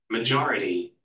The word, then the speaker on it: majority: 찾아보진 내가 안 찾아봤는데 기본적으로 ITY 같은 거가 붙어오고 형용사가 명사가 되면 그 전에 강세가 옮겨져요. 그래서 레볼루션. majority, 그지?